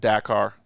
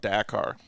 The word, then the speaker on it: Dakar: It's called Dakar. Oh, okay. Yeah, I always said Dakar too, Mhm. but it's called Dakar.